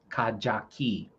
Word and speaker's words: Kajaki: Ka dash ja dash key. Kaja key.